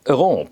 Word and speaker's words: Héron: And I think I will stick to Héron because I've heard this podcast, Totally Tintin, made by two Canadians.